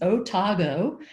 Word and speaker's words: Otago: people often think it's an acronym no it's pronounced otago and it comes from new zealand because the